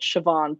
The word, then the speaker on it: Siobhan: my name, but they didn't know how to pronounce it. So they asked my coach once, and my coach said Siobhan, but I guess it didn't stick with them.